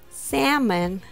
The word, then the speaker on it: salmon: you first of all salmon the fish has the typical letter a sound a samon sermon has